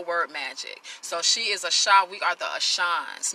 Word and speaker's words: Asha: So she is Asha. We are the Ashans, mispronounced Asians, right?